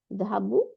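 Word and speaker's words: ذهبوا: এই আলিফটাকে আমরা উচ্চারণে আনি না।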